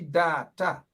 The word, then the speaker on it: Data: The name is, you gotta pronounce Auntie Data name properly. It has a nice singing song behind it, now. a. It's Auntie Data. Data. Auntie Data. That's how you pronounce it.